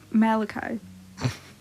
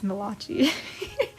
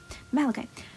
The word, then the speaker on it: Malachi: a new person speaking i have been told i pronounced this guy's name wrong last time um it is malachi and there was me pronouncing it as malachi whoops oh well anyway going to pronounce it right now malachi oh i